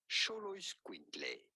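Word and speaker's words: Xoloitzcuintli: Show, the X at the beginning is to be pronounced like CH. Show, Lloyd's, Quintley. Sholois Quintley.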